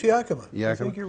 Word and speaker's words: Yakima: How do you pronounce it? I think it? It's Yakima.